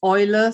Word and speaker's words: Eule: Now, Eule in German is pronounced Eule.